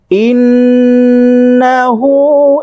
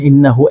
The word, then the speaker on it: إنه: فسبح بحمد ربك واستغفره ইন্নাহু এখানে একটা টান আছে হ্যাঁ ইন্নাহু একালিপ টান হবে এখানে